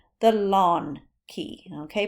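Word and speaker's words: ln: your log key and it is called The Lawn Key okay pronounced lawn not in okay I think it's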